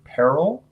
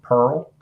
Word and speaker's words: peril: Now, depending on which part of the country you're from, depends on how you might pronounce this next word, peril or pearl.